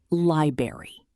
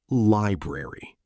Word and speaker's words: library: Many learners accidentally say library. But the correct pronunciation is library.